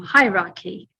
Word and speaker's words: hierarchy: on the screen there that the stress is in bold, and that's on the first part. Maybe you can remember it because it's high and the sound goes up. So it's on the first syllable, hierarchy.